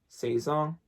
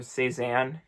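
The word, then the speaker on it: Sézane: Saison, or Cezanne, if you want to pronounce it in the English version.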